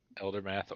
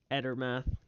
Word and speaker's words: Edermath: Eldermath Orchard. Edermath. Edermath. How do you spell that?